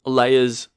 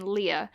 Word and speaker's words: Leia: the movie starts with layers Lea everyone calls it layer it's it's Lea it's clearly Lea are in the in